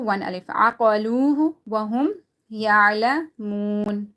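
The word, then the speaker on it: يَعْلَمُونَ: Aqaluhu wa hum ya'lamun. Again, waw is silent, and before that there's zamma. Ya'lamun.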